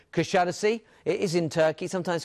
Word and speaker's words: Kuşadası: It's called Kuşadası. It is in Turkey, sometimes called Kusadasi. People pronounce it different ways.